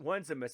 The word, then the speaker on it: Onesimus: uh this guy's name I would call it just onesimus one's a mess there you go I've